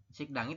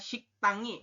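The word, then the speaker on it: 식당이: nah seperti ini ya jadi teman-teman membacanya adalah bukan sik dangi tapiik tangi seperti itu ya dibacanya adalah siktang Kenapa karena sang Diget ini eh bunyinya adalah T kemudian Kenapa kok menjadi sang sang Diget karena ada Giok di bawah ketemu dengan Diget di di atas seperti itu yoroun untuk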